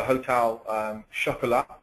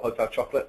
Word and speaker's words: Hotel Chocolat: So Hotel Chocolat or Hotel Chocolate, I suppose, depending on how you say it.